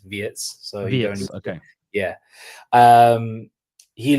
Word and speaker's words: Wirtz: Like Terry, you said it correctly, it is Wirtz.